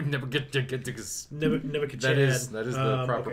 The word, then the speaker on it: Nebuchadnezzar: Nebuchadnezzar. That is the proper pronunciation.